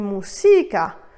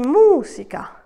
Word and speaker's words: música: l'avant dernière syllabe donc attention je n'ai pas dit música j'ai bien dit música c'est donc sur le u qu'il faudra placer l'accent tonique et pour marquer cette